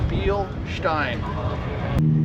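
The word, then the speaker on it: Bilstein: you pronounce it well the proper way the way to think about it is thinkk Jessica Beal and then beer stein so be Stein so we got two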